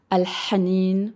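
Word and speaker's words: الحنين: So it's al-hanin or al-hub. I love that. So it comes from a a little further back. Yeah a different place in the mouth and so both of those words al-hanin pretty sure that's nostalgia.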